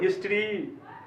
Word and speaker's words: history: उसके बाद है अगला जो सब्जेक्ट है HISTORY, इसको हिस्ट्री, हिस्टोरी ऐसे हम लोग पढ़ते आए हैं। इसका जो सही उच्चारण है, ये जो ई है इसी के